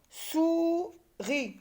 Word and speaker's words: souris: Et je termine par la deuxième et dernière syllabe, ri, et le S est une lettre muette dans souris.